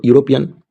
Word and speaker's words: European: So European, it is written an European before European. Friends, if it is started with EU and it pronounced like you, so at that time